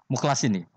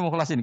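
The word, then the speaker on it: مُخْلَصِين: Jika kita adalah hamba yang tulus, ya, dengan fathah pada lam; illa ibadallahil mukhlasin, namun ada pula yang membacanya mukhlisin, dengan kasrah.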